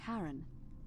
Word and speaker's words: Charon: It's just as you described it, only your pronunciation is a little off. The name you heard wasn't Charon. It was C-H-A-R-O-N, as in Charon, the ferryman of the dead.